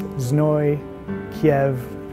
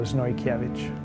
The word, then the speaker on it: Znojkiewicz: last name, and that's Znojkiewicz, just like the city, Kiev, itch, just like an itch, so Znojkiewicz.